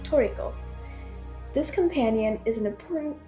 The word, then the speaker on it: Trico: dog cat bird Chimera Tria which in game is pronounced toico this companion is an